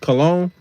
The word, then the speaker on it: Cologne: That's how you pronounce it, Cologne.